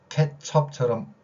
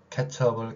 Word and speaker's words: 케첩: 일본어 영향을 받아서 어를 아로 발음하는 거, 케첩을 케찹이라고 발음하듯이.